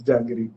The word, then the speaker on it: jangiri: And the second food item is jangiri. Am I pronouncing it correctly? Is Correct. it? You're right. You're right. You're right. It's janggery. Janggery, sweet, sweet.